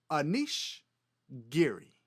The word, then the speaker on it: Anish Giri: So the next time you watch this Dutch grandmaster on either Twitch or YouTube, you can confidently pronounce his name as Anish Giri.